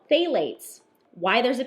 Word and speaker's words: phthalate: But I want to read you a little thing about phthalates. Yeah. This is something that we have read a lot about, and I'm sure you've seen the word phthalate somewhere because the P is silent.